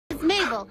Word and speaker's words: Mabel: Mabel. It rhymes with table.